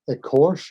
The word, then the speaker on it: écorché: I was reading, and I don't know how to pronounce it. Is it écorché or écorché or écorché?